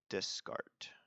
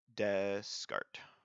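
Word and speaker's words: Descartes: his name is Rene disk art just scarred it looks like disk art AIDS but I think the S is silent because he's like French or something so Cartesian desc art desk art Eze that's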